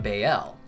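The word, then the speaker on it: Baal: L and in fact ball could also be pronounced bael because ball was a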